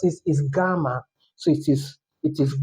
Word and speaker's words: gamma: But this not J sound. This is G sound. So take note. G. The way you pronounce it is gamma.